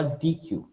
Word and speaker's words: deque: Double ended কিউ অথবা ডি কিউ, right? So এই নামটা হচ্ছে ডাবল এন্ডেড কিউ, আর এটাকে আমরা ডি কিউ, বাট বানানটা আলাদা, ডি কিউ ইউ ই, ওখানে ডি কিউ ইউ ই ইউ ই ছিল, ইট ইজ লাইক দ্যাট।